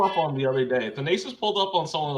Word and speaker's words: Thanasis: You need to learn the way they pronounce their A's. What's his name? Thanasis, bro. Thanasis.